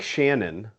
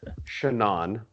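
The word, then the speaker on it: Shanann: i thought it was o-edge at the end shauna well you would think shannon yeah but it's chanan okay caucasian woman living in where are they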